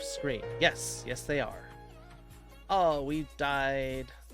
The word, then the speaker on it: eau: don't worry about it french for water is just pronounced oh it's eau yes how do you